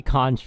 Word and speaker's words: conch: patch remember that conch or conch which is correct no i just say conch because i didn't bother to like i googled it and it's kong apparently they're both correct yeah oh no if